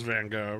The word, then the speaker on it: Gogh: Oh, so everyone just says Van Gogh, right? But I think the Dutch is like cock. Like it's like gawk. It kind of sounds like cock, but with more H's and K's.